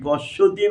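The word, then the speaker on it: पश्यति: আশ্চর্যবাদ পাশ্যোদি, প তালবস্বয় বলা তৈরসি পশ্যতি বাংলা উচ্চারণ করা হয়, সংস্কৃত পশিয়তি রস্যি তালবস্বয় রস্যি অকার উচ্চারণ করে পশিয়তি, এবং চান্ন চ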